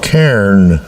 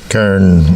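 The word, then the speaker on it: cairn: But yeah, there there are still it's called a Karen like like the woman's name Karen. Karen uh with emphasis on Kairen. Karen is how it's pronounced.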